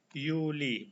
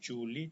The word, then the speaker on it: Juli: Demikian pun bulan Juli itu cara bacanya Juli, bukan Juli tapi Juli.